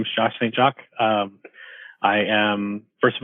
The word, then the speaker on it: St. Jacque: we have a special guest and that's Josh St Jacques did I get anywhere close or do you pronounce it differently you got perfect awesome um